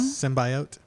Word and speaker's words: symbiote: I mean, I think technically that word can be pronounced both ways.